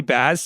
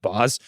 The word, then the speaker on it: Baz: There's a chef named Molly Baz. I think it's actually pronounced Boz that I really like.